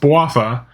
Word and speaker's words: Bouapha: that is the adventures of waffa yes it's pronounced bowafa uh spooky castle which is actually part of